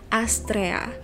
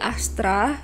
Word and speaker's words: Astrea: Sebenarnya bagian A, E, A itu dibacanya cuma Ea gitu. Astrea. Jarang ada yang manggil aku Astrea karena lebih sering diplesetin jadi Astra ya.